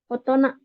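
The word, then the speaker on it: 大人: Kanji besar dan kanji orang kalau digabungkan dibacanya menjadi otona. Kayak gitu.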